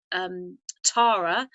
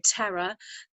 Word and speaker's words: Terra: Terra was a name given to the Earth by, or also some pronounce that Tara, but in the UK we say Terra, was a name given from a consciousness outside of the Earth.